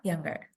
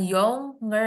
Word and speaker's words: younger: yanger nah yang yang younger Oke jadi bukan y nger tapi younger yanger berarti fokus ke